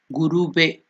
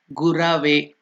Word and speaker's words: Gurave: Guru, it becomes not, most of us pronounce it as Guruve. It is not Guruve. It is in Sanskrit, it should be Gurave.